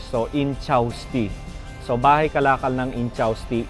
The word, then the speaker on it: Ynchausti: Kinlaro ko muna yung pag-pronounce. So, Inchausti.